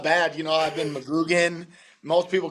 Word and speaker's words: McGuiggan: McGuiggan. That's a tough one. So, okay, is how you pronounce the middle part of that? Yep. Okay.